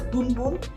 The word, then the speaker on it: Bum Bum: This cream is pronounced as Bum Bum. It's a Brazilian way of saying Bum Bum.